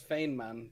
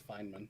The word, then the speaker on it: Feynman: They mispronounce it as Feynman, but yeah, it's Feynman.